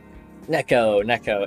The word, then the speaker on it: Neko: Neko, N-E-K-O, that's how he wanted it pronounced.